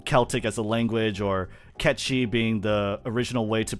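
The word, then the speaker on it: Cait Sith: war or um Celtic as a language or katchi being the original way to pronounce the name he like you're talking there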